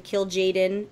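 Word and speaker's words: Kil'jaeden: Did I say it wrong? No, Remedies is just trying to be a bully. I was like, today. I've been saying it wrong my whole life then, because...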